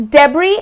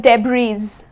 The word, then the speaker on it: debris: scattered pieces of rubbish so it's debris I mean though it is spelled with an S but it's not pronounced as d'bries it is debris ok so it's that's